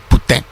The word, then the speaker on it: poutine: We happened to be in an A&W and we ordered poutine. And he's like, you're saying it wrong. It's putain. Or whatever, whatever French people would call it.